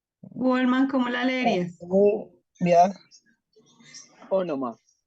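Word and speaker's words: ὄνομα: Ya, Ónoma. Ónoma, ¿cierto? Ónoma. Entonces, tiene un espíritu suave, no se pronuncia.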